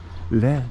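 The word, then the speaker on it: Lija: How do we pronounce that? L-I-A. Lear.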